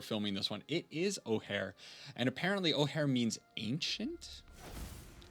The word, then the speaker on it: Ojer: It is Ojer.